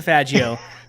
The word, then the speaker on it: Faggio: have to say it you have to say it like an italian because if you say it like an american then you're gonna get in trouble nowadays hilarious dude we're talking about